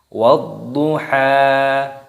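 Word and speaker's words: وَالضُّحَىٰ: Wadduha, wadduha. Di sini terdapat alif lam syamsiyah. Di sini ada huruf dha yang berharokat tasydid, ini dimasukkan, diidghamkan, ditekan. Waddu, wadduha, wadduha, wadduha. Seperti itu cara membacanya.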